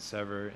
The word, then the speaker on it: SeVuR: and ultimately break free it's pronounced as sever meaning to separate so aj this has